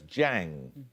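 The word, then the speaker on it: Jiang: are Nanjing and Hangzhou um zeddy no it's Jang meaning Lake what place name element links the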